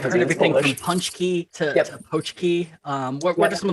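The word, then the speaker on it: pączki: I say it ponchki because I married a Polish man. Exactly, yes. The Polish pronunciation is the correct one. But I've heard everything from ponchki to pochki.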